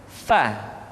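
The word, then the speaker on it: ف: Berikutnya pengucapan huruf fa diucapkan dengan menyentuhkan ujung dua gigi seri kita bagian atas dengan bibir bawah bagian dalam. FA seperti kita mengucapkan huruf F di dalam huruf latin.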